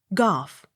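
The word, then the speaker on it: Gough: second g soft g o u g h golf g o w e r gore but gower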